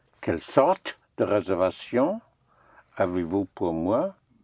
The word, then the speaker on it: sorte: Quelle sorte? Right. Quelle sorte? Sorte. Quelle sorte? Quelle sorte? Quelle sorte? Sorte is spelled S-O-R-T-E.